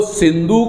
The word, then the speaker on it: सिंधु: नहीं कर पाते थे, स का उच्चारण ह करते थे। तो सिंधु का उच्चारण ह हिंदू कर दिया।